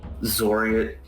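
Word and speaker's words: Xoriat: would you say that it's all right you're sort of pronounced as zoria yeah you've got it right yeah yeah zoria isn't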